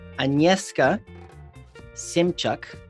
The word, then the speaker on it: Agnieszka Szymczak: Today we have Agnieszka Szymczak.